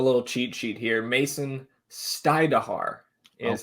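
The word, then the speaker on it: Stajduhar: Mason Stajduer is how you say that.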